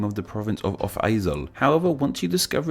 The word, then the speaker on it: Overijssel: speakers is the name of the province of Off-IJssel. However, once you discover its etymology, it's actually a pretty... I've been pronouncing it Overijssel.